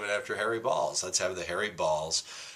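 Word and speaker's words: Baals: the name of Harry Balls. B-A-A-L-S, but it's pronounced Balls.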